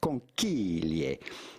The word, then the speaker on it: conchiglie: So how do you go about pronouncing this with the typical Italian pronunciation? Yes, it's not obvious from looking just at get the to spelling, it, bro. But it's conchiglie.